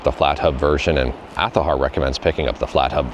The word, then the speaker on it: Azahar: Almost every single video I get a comment saying it's pronounced Azahar. It's pronounced Aahar as per the developers. And I'm just honoring what they're trying to call the emulator here. It is pronounced Aar.